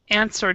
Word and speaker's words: answer: Answer does, even though there's a W in the spelling, Answer. we actually do not pronounce the W right here.